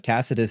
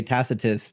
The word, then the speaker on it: Tacitus: the correct pronunciation of Tacitus is actually Tacitus, but in the West, we just say Tacitus because we soften the C.